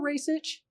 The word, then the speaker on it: Rajsich: and I hear this excuse me are you a racich I turn around and I'm looking I'm like who just said that that's the second time I heard somebody say my name correctly yeah which you know